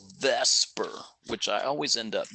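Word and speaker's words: VSEPR: r otherwise known as you say it as Vesper even though it's VF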